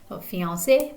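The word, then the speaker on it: fiancée: fiance all the time and notice the e the optional e's on the ends of these words it simply transforms them to their feminine form but the pronunciation is the same fiancee so those e's really matter more for spelling than they do for pronunciation or anything like that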